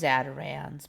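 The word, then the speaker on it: Zatarain's: Apparently still pronounced Zatarans, but Zatarains.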